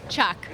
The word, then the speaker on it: Che: us Dolce Montoya Tia I didn't get the pronunciation of your last name Chuck Tia Chuck from AWA Studios and Artisans Studios